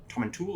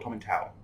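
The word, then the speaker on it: Tomintoul: there's no consensus okay so it's either tom and tool or tommy towel yeah even people who are from there pronounce it differently i have heard it both ways yeah yeah yeah so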